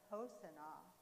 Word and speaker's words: Hosanna: And what they were saying was Hosanna, but they pronounce it Hosanna.